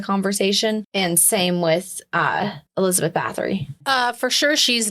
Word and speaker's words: Bathory: But I could see, like I said, because I looked up Elizabeth Bathory and I looked up Bathory. There's no fucking L in it. Balthara.